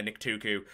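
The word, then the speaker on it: Nictuku: of a uh that a Nik tuuku I had to check again to make sure I pronounce correctly a Nik tuuku uh would was is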